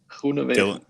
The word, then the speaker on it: Groenewegen: So, how do you pronounce it? Groenewegen.